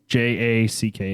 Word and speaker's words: Nickajack: my southern accent, but it is spelled Nickajack. It's literally like the name Nick Jack.